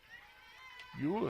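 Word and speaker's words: Uhl: Ewell is spelled U-H-L.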